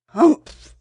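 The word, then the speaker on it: humph: read the story aloud please pronounce hump exactly as it spell for that is how he said it hump do you know until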